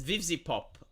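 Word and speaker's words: Vivziepop: How do you pronounce it? Vivzi Pop.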